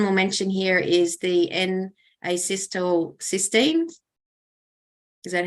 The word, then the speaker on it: N-acetylcysteine: And then the last one we'll mention here is the N-acetylcysteine. Is that how you pronounce it? N-acetylcysteine, you bet.